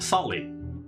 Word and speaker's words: Sale: Uh, or which is So it is pronounced Sali. Um Sali is it was the name of an ancient